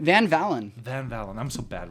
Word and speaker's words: Van Valin: say your last name Van Valen Van Valen I'm so bad with names Van Valen it's like the V sound as a German it's really bad I